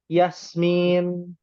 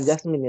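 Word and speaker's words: ياسمين: ada lagi Jasmin ya Yasmin bukan Jasmin ya Jasmin bahasa Inggris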